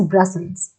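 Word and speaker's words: Brussels: ठीक है, इसकी प्रोनाउंसिएशन इज ब्रसल्स।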